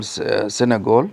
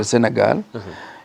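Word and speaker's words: Sénégal: from North Africa Africa a country that you people call Sagle but we call it Sagal in the language that they like using because the pronunciation is French MH and uh the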